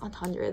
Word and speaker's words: entendre: I've heard this pronounced a few ways. I think it's Entendre though.